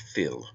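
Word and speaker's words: fuil: This word is taken from the Irish word phil f u i l pronounced phil meaning blood.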